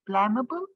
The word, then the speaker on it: blamable: Blamable? It's actually blamable because my suffix ABLE, my base word had an E that I dropped when I add.